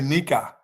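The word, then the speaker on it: Knigga: I say Nika. The K is silent.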